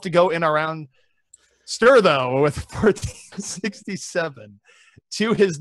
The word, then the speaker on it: Ster: Dude, it's pronounced Ster!